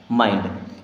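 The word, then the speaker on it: mind: ड हो गया फाइंड एम से बना मा आई के लिए बड़ा आ और ई आई लिखेंगे और आधा ना ड माइंड के से बना क बड़ा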